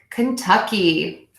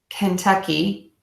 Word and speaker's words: Kentucky: okay now we have Kentucky you can think of this one of two ways either we'll be correct for you here you can say 10 like it's spelled 10 Kentucky Kentucky Kentucky or you can use